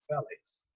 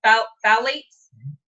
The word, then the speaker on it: phthalates: All right, so 7 new products, all formulated without sulfates, parabens, I don't know how to pronounce that word. Phthalates. Say it again. Phthalates. Phthalates, petrochemicals, animal-derived ingredients, synthetic dyes, and preservatives, synthetic fragrances, no animal testing.